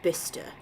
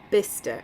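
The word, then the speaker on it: Bicester: It's pronounced Bister. I was going to ask how it was pronounced. I'm so glad it said that. Bister Okay.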